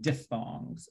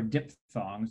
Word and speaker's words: diphthong: diphthongs or dip songs you can say it both ways but the technically correct way to say it was with an f sound diphthongs it's a greek word so the ph says the sound um so you could